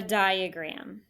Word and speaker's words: diagram: that's a text feature di a gram you should be able to figure out that one die is an open syllable with that long eye and then you know what says uh in the middle of the word graham i had to label